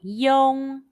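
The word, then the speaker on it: yong: in the video carefully and repeat after it young young young when the final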